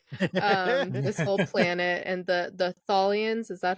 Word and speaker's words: Tholians: This whole planet and the Tholians, is that how you pronounce it? I think. Tholians.